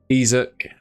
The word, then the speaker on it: Isak: Isaac is how you pronounce it.